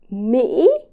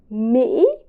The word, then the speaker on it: Mỹ: And finally, both of the letter I and the letter Y in Vietnamese are pronounced very similar to in the word she or she. It's very simple. Mỹ, Mỹ, that means America in Vietnamese.